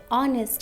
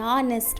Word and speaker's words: honest: Here it's same, h is silent, and here we have vowel sound. So that is honest man. Okay, an honest man.